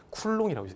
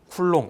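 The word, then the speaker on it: coulomb: 학자 이름을 따는게 보통이거든요 그래서 얘는 쿨롱이라고 읽습니다 쿨롱 요거 c라고 읽으면 된다 안 된다 안 된다 얘는 쿨롱이라고 있습니다 따라서 전하 Q 쿨롱 이렇게 얘기를 하는 겁니다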